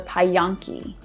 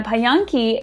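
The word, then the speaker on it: Pająki: this wonderful polish craft it's called a pie yong-ki and I know I'm probably saying that wrong but that's the best phonetic pronunciation that I could find and a pie on key is a basically a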